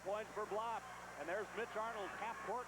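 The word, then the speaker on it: Blab: The second foul on Blop. His name is spelled U-W-E, Uwe, B-L-A-B, pronounced Blop.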